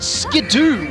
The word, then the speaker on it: Skiddo: what you call kids, the pre-evolution of Go-Go, is apparently canonically pronounced Skidoo, We're finished. even though it's not a double O.